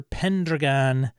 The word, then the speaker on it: Pendragon: 2023 was King Arthur Pendragon sixth edition why is he pronouncing it like that it's driving me nuts it's pen Dragon you ass yeah you're